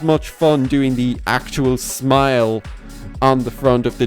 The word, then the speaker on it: SMLE: The artist's name is spelled SMLE, so there's no I. But I've heard like Bowtied Media pronounce it as Smile, so I'm just going to keep things simple and say that there was no vowel, just as a stylistic choice, and you don't actually pronounce it smell or anything like that, because otherwise things